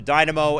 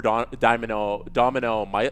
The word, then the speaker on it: Dynamo: But he said he wanted to play for Domino Moscow. Is that how you pronounce it? Dynamo Moscow.